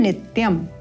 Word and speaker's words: नित्यम: नित्यम महेशमुंडा येन नित्यम यहां पर हम जो त्रुटि करते हैं वह इस न को उच्चारण करना भूल जाते हैं इसलिए हमें यहां पर विशेष ध्यान देखना है कि न का उच्चारण करना है येन नित्यम इस प्रकार चारु चंद्रावत समम यह